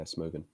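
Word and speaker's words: Smögen: Uh, whiskey number 5 is the Mortlach, and whiskey number 6 is the Smogen. That one I have no shot of knowing if I pronounced it correctly. No, that's correct. Yeah, Smogen.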